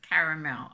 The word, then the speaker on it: caramel: hair i blame her c-a-r-m-e-l caramel that's why we pronounce it caramel i love caramel chocolate